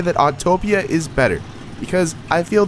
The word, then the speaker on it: Autopia: of my biggest complaints it's spelled autopia not autotopia i swear people do not know how to read or speak english but anywho i can easily say that autopia is better because i